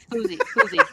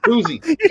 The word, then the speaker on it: Fousey: How do you pronounce it? Fousey. Fousey.